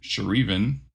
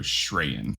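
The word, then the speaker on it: Sh'reyan: I don't know Jennifer her last name is sh apostrophe r-e-y-a-n so shreyan Patrick's supposed to know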